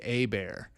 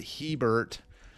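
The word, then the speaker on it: Hebert: I've heard a lot of people pronounce this guy's name incorrectly. It is Bobby Abear. And that is why he is called a Bear. It is not A Bear. It is not Heert.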